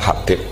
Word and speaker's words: Habib: Itu di harokatnya kitab itu ada yang nulis Hubab. Tapi yang benar, oh enggak, yang benar itu bacanya Habib. Habib itu As-Sulami itu ikut marga Robi'ah.